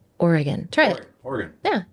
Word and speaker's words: Oregon: state of Oregon more importantly how do you pronounce the state of Oregon it's not oron it's not Oregon it's Oregon try it Oregon yeah it's beautiful it's not